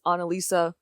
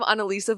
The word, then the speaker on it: Analisa: I'm not like Mona Lisa, because Analisa, but people always say it wrong, so they're like, oh, like Mona Lisa?